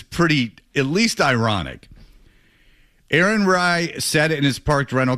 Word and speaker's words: Rai: What's the guy's How do you pronounce the guy's name that won it? Rai.